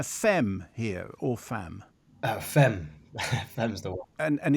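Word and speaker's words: femme: here or fam uh fem F's the word and and explain why it's that pronunciation rather than the French fam the French fam I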